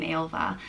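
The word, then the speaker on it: Ailbhe: In the medieval times, Ailbe commonly had a H in it, but these days, if there's a H in it, people generally think it's a girl's name, Ailva.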